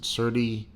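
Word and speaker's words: Serti: S-E-R-T-I. I pronounce it Certi.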